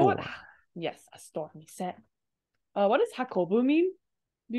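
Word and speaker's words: 店: So 10 is how this is pronounced when it's married, like kisaten, which is a cafe. This guy right here on its own though is mise.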